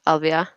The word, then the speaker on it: Alvia: This is a How do you little pronounce bit. your name, honey? Is it Alvia? Yes, Alvia.